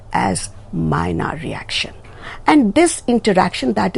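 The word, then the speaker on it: Maillard: a r d reaction but mylard is not pronounced as mylard you have to remember it is pronounced as minor reaction and this interaction that is between the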